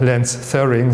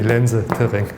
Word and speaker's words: Lense-Thirring: They were Austrian. Yeah? So it's not Lense-Thirring, so it's really Lense-Thirring.